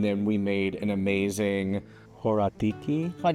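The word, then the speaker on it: horiatiki: Horataki horaka horatiki. Dude, I keep saying it wrong.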